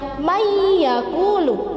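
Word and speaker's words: مَنْ يَقُولُ: Jadi tulisannya man yaqulu tetapi membacanya mayyaqulu, jadi dimasukkan ke huruf ya dan mendengung.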